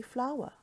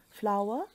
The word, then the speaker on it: flower: this word is actually flower just like in the plant flower and flower a home phones in a pronounced exactly the same way remember they rhyme with power sour and power red red this word